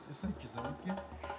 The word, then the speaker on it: Kizaluki: Kizaluki, oui. Ah, si il n'y a pas d'erreur de moi dans la prononciation. Non, c'est ça, Kizaluki.